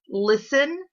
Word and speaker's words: listen: So look for 3 other words that have the silent T. When you find them, come back to the lesson. All right, hopefully you found them. Put them on your chart. Let's check and see if you've got the right words. You should have found listen, glisten, and soften.